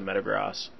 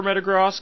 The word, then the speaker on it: Metagross: the back instead of the meta grass or Metagross I know I go back and forth I prefer Metagross because I think I've heard it more in the anime pronounced that way not that the anime is always right in fact they're often wrong but I like the sound of Metagross better because Metagross makes it